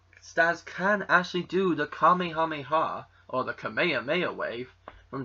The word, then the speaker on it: Kamehameha: And yes, I say it as Kamehameha, or Kamehameha, as it would be properly pronounced.